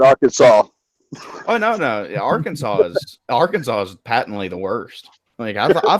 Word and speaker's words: Arkansas: they wanted me to pronounce it Arkansas why did they spell it Arkansas if you ever been